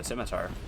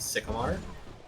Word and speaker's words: scimitar: When I uh first played D and D, my friend who was DMing didn't uh pronounce the word scimitar correctly. Yeah. And they said sycamore.